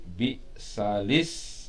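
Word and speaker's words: بئس الاسم: Nah, ya, wala tanabazu bil alqab bi'sal is. Nah, itu tulisannya, tapi dibacanya nggak boleh begitu ya, dinakol. Bacanya gimana? Bi'salis mul fusuq, bi'salis mul fusuq, ini nakol namanya.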